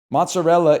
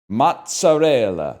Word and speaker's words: mozzarella: Mozzarella is pronounced mozzarella, not mozzarella.